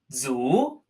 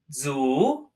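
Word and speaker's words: 足: so our first character today foot this is pronounced Zhu Zhu Zhu and it simply means foot the part on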